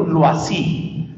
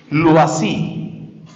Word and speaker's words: Loisy: sus estudios posteriores, es un sacerdote de apellido Loisy, se escribe L, O, y latina, S, Y, Loisy.